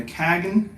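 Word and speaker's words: Cagn: Uh then you've got this is I think it's uh Kagnen, how you say it? It's C A G N. See if I have the pronunciation. Yeah, Kagen is how you say it.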